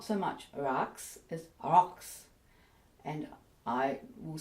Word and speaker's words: رقص: Now, as I just said, if you're going to spell Raks as it's pronounced, it's probably going to be R-O-C-K-S, Raks. I've never heard an Arabic speaker say Raks, even with the Q in the back of the throat.